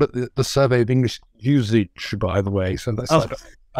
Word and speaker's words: usage: So most people say usage now. He would definitely have said usage.